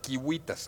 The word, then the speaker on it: civitas: como K, es decir, cuando nosotros hemos escrito Civitas, ciudad en latín, claro, lo más probable es que los romanos lo hayan pronunciado Kiwitas, es decir, no hacían